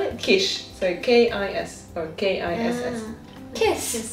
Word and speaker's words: Kiss: It sounds, no, you spell it like kiss and it sounds like quiche.